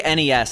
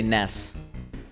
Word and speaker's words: NES: how you doing yeah I always say NES I don't say Ness probably because of the confusion with the character butts Ness that's a separate story